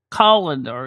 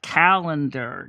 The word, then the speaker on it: colander: Yeah, colander. It's spelled actually Colendar. Colander, not calendar. You're not keeping track of days on it.